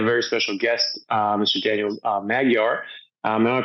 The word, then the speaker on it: Magyar: Daniel Magyar. Am I pronouncing that right?